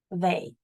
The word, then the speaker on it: survey: A survey. Um, survey. Two syllables. Survey. Ve y. I hear an a, but it's not an ay. It's an ey.